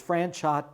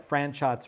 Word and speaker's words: Franchot: ever got right was franchot tone she always pronounced it correctly with a hard t at the end of franchot franchot tone was one